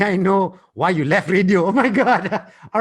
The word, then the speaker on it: RADIOOH: Radio, how do you say that? RADIOOH, which stands for Radio OOH, out of home.